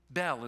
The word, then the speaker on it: Bel: find in the Bible, pronounced Bel. Not like Belle, like in Beauty and the Beast, all right? B-E-L.